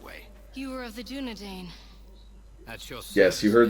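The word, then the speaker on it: Dúnedain: thought it was Dunedain as well. Nope, Dunedain. Tolkien being the linguist that he is, you know. There's a reason why it's pronounced Dunedain, but like, yeah, it is Dunedain, and I don't know,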